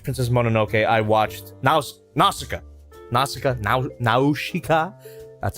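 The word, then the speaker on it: Nausicaä: Nausicaa. That's how they pronounce it in the film.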